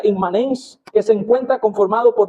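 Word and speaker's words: immanens: La palabra inmanencia viene obviamente inmanente, viene del latín que se pronuncia inmanens, que se encuentra conformado por dos partes claramente diferenciadas.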